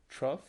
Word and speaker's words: trough: it trough? Trough. Trough rhymes with cough.